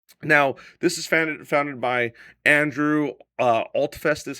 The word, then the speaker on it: Andrew Altfest: Now, this is founded by Andrew Altfest, is how you say his name, a practicing CFP.